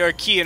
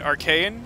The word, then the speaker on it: Arkeyan: take me to the Aran Armory excellent then the Aran Armory awaits you I really don't like that pronunciation for some reason looking at that name I always want to read it arcan so I will probably